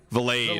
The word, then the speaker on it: Valade: How do you pronounce this guy's name? Vilad? Vilad? Let's see here. Valade. Valade. Who the hell Valade.